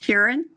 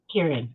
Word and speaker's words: Huron: For Huron, is that how do you pronounce it? Kieran? Huron.